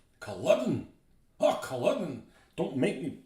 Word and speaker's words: Culloden: So, most Scots pronounce it Culloden. Culloden.